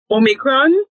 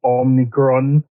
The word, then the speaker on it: omicron: put pronounce it yeah anybody with either um omnicron like huh no i didn't see an ni so i is